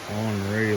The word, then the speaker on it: Henri: Pretty big hurricane, Henry. And that's how I pronounce it. I don't know why they gotta say Henri like we live in France or something.